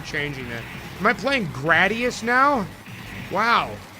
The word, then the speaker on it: Gradius: I think it's pronounced Gradius, not Gradius. I used to say Gradius because you gradually get better at it as you play, but I guess it's Gradius because it is a very low grade.